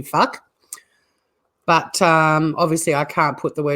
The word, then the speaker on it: Fluck: It's fuck with a silent L. So it is actually fuck.